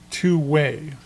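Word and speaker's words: 2wai: It's pronounced twoway.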